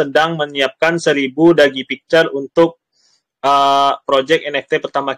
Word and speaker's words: Duggee: Untuk Dagi ya sebutannya ya? Dagi.